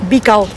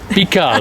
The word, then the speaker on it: Bical: Both Baga and the one that I always have trouble pronouncing. Bical. Bical, there you go.